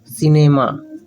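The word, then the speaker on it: cinema: सिनेमा, आई है सी के बाद तो स होगा, आई है तो स होगा, ऐसा सिनेमा।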